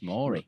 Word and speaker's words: Maury: You'd be the pebble I if you genuinely were thought it was Maori. pronounced Maori. No, it's Maury.